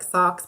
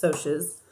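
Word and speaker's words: Socs: were sotius for sure shorts it looks like socks but you pronounce its OSHA's they wore Madra shirts and had money and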